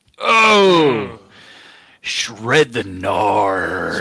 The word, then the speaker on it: Knarr: The first one, Brandon Narr. Oh, shred the Narr. Spelled with a K, not a G. Knarr. 2 R's.